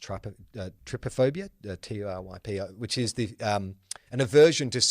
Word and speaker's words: trypophobia: have one phobia, which is, I believe it's pronounced trypophobia, T-U-R-Y-P-O, which is an aversion to seeing holes close together or round objects clustered together.